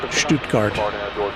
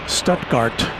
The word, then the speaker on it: Stuttgart: And so apparently there's a Stoutgart in uh in Arkansas and I imagine it's probably not pronounced Stuttgart. probably pronounced Stutgart, but nevertheless, it's the first time I've ever seen an airplane come from that particular airport.